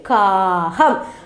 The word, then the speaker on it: காகம்: அப்போ நீண்டு சொல்லணும், உயர்ந்து உசத்தி உச்சரிக்கணும் அப்படிங்கிற இந்த இதெல்லாம் நீங்கள் வந்து உங்கள் குழந்தைகளுக்கு சொல்லிக் கொடுக்கலாம். காகம், ஏன்னா துணைக்கால் வந்துருக்கு இல்லையா, காகம் அப்படின்னு சொல்லணும். அடுத்தது பாருங்கள், இங்கே வந்து ஒரு டி ஷர்ட் இருக்கு.